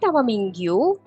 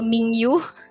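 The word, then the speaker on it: 민규: nih di kolom chat berarti mingu dibacanya Ming ya betul karena kalau n ketemu G dalam bahasa Korea itu aturan pengucapannya si n-nya jadi ng Jadi bukan miningu atau mingyu lucu banget mingyu tapi Ming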